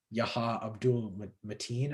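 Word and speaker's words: Yahya Abdul-Mateen: plays black manta i don't know how to pronounce the name it's like yaha abdul mateen i think that's how you pronounce it personally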